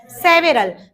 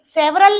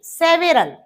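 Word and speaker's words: several: सेवेरल। तो सेवरल नहीं, सेवेरल, pronunciation is सेवेरल।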